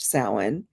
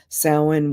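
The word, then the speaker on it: Samhain: s m h a i n but it's pronounced sin and um and it sits across the Wheel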